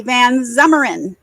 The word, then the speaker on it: Van Zummeren: Joey Van Zummeren.